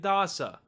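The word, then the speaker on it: dāsa: means the number 10 if you were to take the first of the two A's and make that a long a you get dasa which means servant and if you take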